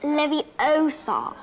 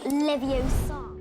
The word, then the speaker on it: Leviosa: It's Leviosa, not Leviosa.